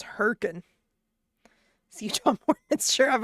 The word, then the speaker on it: Hurricane: pronounce herkin.